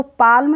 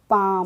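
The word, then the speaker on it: palm: नहीं पढ़ेंगे ऐसे ही पी ए एल एम है तो पाल्म नहीं पढ़ेंगे क्या पढ़ेंगे इसको पाम चलिए अब देखते हैं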